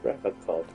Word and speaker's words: Revachol: But someone has to stay strong for Revachol. He pronounces Revachol with a hard K, unlike other people. You said Revachol.